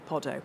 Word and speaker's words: Poddo: And I've got in brackets here as in Waiting for Godot, Poddo. So there was a handy pronunciation.